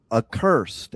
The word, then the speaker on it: Accursed: So, let's welcome to the show Aursed. And I hope I pronounced that properly because if I it up and I'm then I'm an idiot.